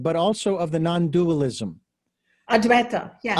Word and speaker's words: Advaita: Advaita. Yes, Advaita. You got it. Yes. Advaita.